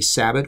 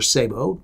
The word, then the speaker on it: sabot: Here we have what's called a sabot or sabot, depending on how you want to pronounce it.